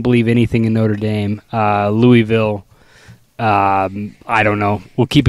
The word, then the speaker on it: Louisville: Because cans are in Louisville. And you got to say it like that. You got to go Louisville, right?